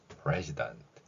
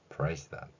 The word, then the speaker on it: president: 그리고 이러한 글자 표기의 원리를 적용하여 그대로 소리로 읽어본다면 president 이렇게 발음할 수 있죠. president.